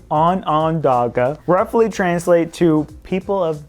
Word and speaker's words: Onondaga: So this next cave, I have no idea how to pronounce, so I'm gonna need some help. What is it? Onondaga.